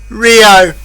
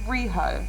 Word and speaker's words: Riho: you mean, yeah, no, you're almost there. It's Riho, I believe.